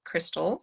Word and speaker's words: Christell: Yes, y'all can follow me at my handle is C H R I S T E L L7908 Crystal. That's how you say my name.